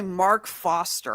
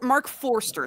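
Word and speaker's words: Marc Forster: Uh, directed by Mark Foster. I don't think that really help or for Mark Forester. Sorry, that's the way it's pronounced.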